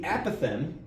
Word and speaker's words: apothem: The emphasis is on the first syllable, apothem.